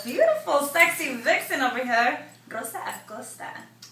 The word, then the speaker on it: Rosa Acosta: sexy vixen over here, Rosa Acosta. Am I saying it right? Yeah. En español así se dice, ¿verdad? Sí, Rosa perfecto. Acosta. That's right.